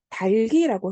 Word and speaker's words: 닭이: 그 위 같은 경우에는 발음이 뭐냐면, 달기라고 해야 하고요.